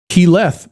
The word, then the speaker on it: Keyleth: Keyleth was You should have known that. Keyleth, not not Keyleth. Keyleth. Accent on the "leth".